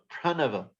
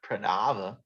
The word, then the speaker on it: pranava: we know it's radhika so pranava not pranava all vedas i am the pranava which is the word